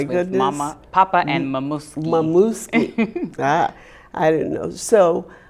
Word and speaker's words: Momuski: It's spelled the same way it's pronounced. Momuski.